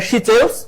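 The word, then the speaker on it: Seychelles: আফ্রিকার সবচেয়ে বড় দেশ নাম হচ্ছে আলজেরিয়া আর আফ্রিকার সবচেয়ে ছোট দেশ কোনটাশিলিস কোথাও এভাবে লেখা সিচেলস উচ্চারণের ভিত্তিতে এদিক সেদিক একটু হইতে পারে সিচেলিস বা সিচেলস সিচেলিস আফ্রিকার সবচেয়ে ছোট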